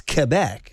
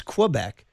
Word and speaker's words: Quebec: Quue bec and I said what? You're not French Canadian. She's like well that's how they say it. It's Quebec. I'm like no it's Quebec.